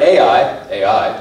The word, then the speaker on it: Ai: another time but the point is they're right ai ai literally how you pronounce it the city and they go and